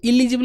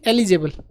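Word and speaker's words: eligible: तो एलिजिबल, इलिजिबल नहीं, एलिजिबल, ELI, जिबल, ये जिबल याद कर लो, जिबल, GIB, एलिजिबल।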